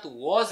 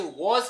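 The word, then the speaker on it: was: Reality में आई के साथ वॉज लगेगा, और इसे वॉज कहते हैं, वाज नहीं कहते हैं।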